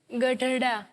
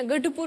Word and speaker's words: गढ़पुर: ये जो जगह से आप आ रही हैं, इसका प्रोनाउंसिएशन हमको ठीक से नहीं मालूम है, बताइए गधड़ा। गधड़ा। गधड़ा। गधड़ा। सर गढ़ आता है ना, गढ़पुर बोलिए, कोई बात नहीं, गढ़पुर।